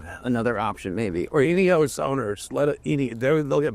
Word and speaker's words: Ineos: another option maybe or inos owners let in they'll get mad it's inos inos not inos it's inos you must pronounce it exactly like the oil company it's named after my Father